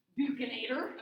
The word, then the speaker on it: buccinator: How do you pronounce the B one? Buccinator.